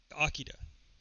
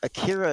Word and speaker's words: Akira: most attached to, and there's a debate forever on how to pronounce it. Akira. It's Akira, however you want to pronounce it. Akira is Akira. how I've always said it. Yeah. Yeah. I said Akira for years, and then some friend in college, like, it really is, it's pronounced Akira. Yeah, that's the correct translation.